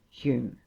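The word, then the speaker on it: Home: and square brackets david hume and john hume spelt h-o-m-e whose names had the same pronunciation robertson smith wallace blair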